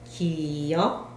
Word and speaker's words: 기역: 기역, 기역, 니은, 니은, 다음에 디귿, 디귿, 리을, 리을, 미음, 미음, 비읍, 비읍, 시옷, 시옷, 이응, 이응, 지읒, 지읒, 시읒, 시읒.